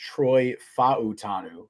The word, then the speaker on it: Troy Fautanu: I learned today that I believe it's his name is actually pronounced Troy Fautanu. Fautanu or something Fautanu? Like that. Fautanu, at least according to Dane Brugler's pronunciation guide. I don't know. It says Fautanu.